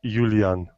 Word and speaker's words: Iulian: it's yeah uh my my romanian name is only spelled with another initial letter if you want to try romanian i can i can tell you that pronunciation oh boy okay go for it okay it sounds like latin it's julian oh that's not so